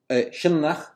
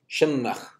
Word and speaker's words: Sionnach: Okay, so what Professor Stifter's proposal is that Old Irish Sionnach, which was stressed on the first syllable and would have had a long N, Sionnach, was that it comes from a proto-Celtic senu na, of course.